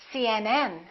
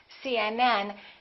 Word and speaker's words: CNN: example cmn UCLA PhD the rule is we stress the last letter of an abbreviation for example CNN UCLA PhD let me